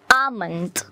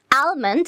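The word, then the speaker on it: almond: বাদাম সো বাদামটা হচ্ছে এটাকে যদি আমরা সাইলেন্ট করে দিই তাহলে এটা প্রোনাউন্সিয়েশন যে কি হয় আমন্ড আমন্ড নট আলমন্ড আমরা অনেকেই হচ্ছে এটাকে বলি যে আলমন্ড I like আলমন্ড বাট নো এটা আলমন্ড না এটা হচ্ছে আমন্ড অ্যান্ড last but নট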